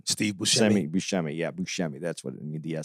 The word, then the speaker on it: Buscemi: Buscemi, yeah, Buscemi.